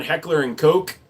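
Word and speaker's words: Heckler & Koch: I also correct people on Heckler and Coke.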